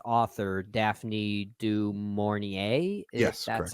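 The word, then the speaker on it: du Maurier: source material but I know its author Daphne dorier is that's how you pronounce her name uh I could have helped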